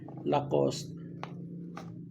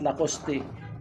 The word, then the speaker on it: Lacoste: This is a gift this one guys Lacoste lacost Actually the correct pronunciation is lacost is not Lacoste kung na sa Latin America siguro Lacoste angang